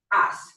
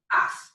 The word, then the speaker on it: haz: the verb hacer, and it is pronounced as. Careful with that one because the H's don't make a sound and the Z always makes an S sound. So we have as.